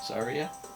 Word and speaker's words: Saria: How did you always say her name? Saria? Yeah, That's how I said it too. that's the correct way.